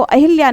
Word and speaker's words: अहल्या: शुद्ध रूप से जो लिखा जाता है वो अहिल्या नहीं बल्कि अहिल्या शब्द हम लिखते हैं और उच्चारण भी हमें अहल्या ही करना चाहिए।